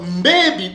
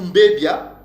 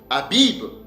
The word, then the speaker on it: mbebi: Donc, mbebi ou mbebia, que Edom le prononce Abib, veut dire observer un stade particulier d'une céréale et pas le printemps.